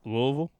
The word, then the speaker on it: Louisville: Louisville?